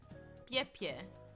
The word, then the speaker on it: Pis: Anyway, that river is in Nicaragua, and Piss is pronounced Pie.